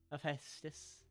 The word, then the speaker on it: Hephaestus: As long as you're pronouncing everything, right? Hephaestus.